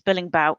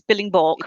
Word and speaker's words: Billingborg: the name of the road right, but I pronounce it as Billingborg, but I'm quite happy to change if that's not correct. It's Billingborg. It is Billingborg, right?